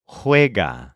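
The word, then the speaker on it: juega: them are based on now this word is spelled in a pretty weird way so the normal present tense for he or she plays is hga spelled j u e g a and since this is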